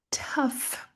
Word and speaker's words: tough: Mais uma vez, nós não temos o th no começo, então não tem o som f e temos de novo o gh mudo. Na verdade eles não são mudos, eles fazem o som de f, né? Diferente de ser mudo. Então eles têm uma função aqui nessa palavra que não tem nada a ver com G, não tem nada a ver com H.